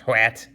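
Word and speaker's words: Hwæt: about one word what i believe is how that's pronounced hwat this translator who's sheamus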